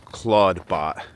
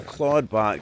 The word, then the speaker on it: Clawdbot: Um, an open- source version of Claude was released called Claudebot. And that Claude is spelled C L A U D. And uh Claudebot is CL L A W D. So Claudebot.